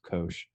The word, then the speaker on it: cosh: the derivative of cosh this is pronounced kosh look up with a